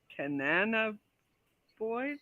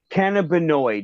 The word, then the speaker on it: cannabinoid: the care numbers there's a significant amount of canana boys I can never say it right I can't say it either I can avoid okay yeah that word that one worse yeah you know what cannabinoid yeah cannabinoid um he's also making this reminds